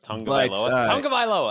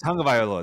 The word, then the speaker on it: Tagovailoa: No, I butchered it. Well, crap. Now I can't remember how it goes. Tagovailoa. I got it. Tagovailoa.